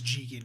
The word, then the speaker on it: Jigen: Yeah, it's Jigen. You're right. I've been kind of mispronouncing it.